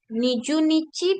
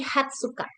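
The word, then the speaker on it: 二十日: Jadi bukan tanggal 20 itu bukan Niju, Niju Nichi, bukan Niju Nichi, tapi Hatsuka.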